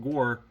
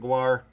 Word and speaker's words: Gwar: More people pronounce it Gore. I pronounce it Gwar.